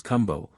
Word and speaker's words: kumbo: widely with individuals thus the word which is given as kumbo a hill by Bryant I have heard very distinctly pronounced Kum I believe that to